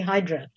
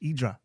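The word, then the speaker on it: Ύδρα: we always say that tourists say hydra but the natives say idra because that is the greek pronunciation yeah silent silent h idra okay interesting exactly yeah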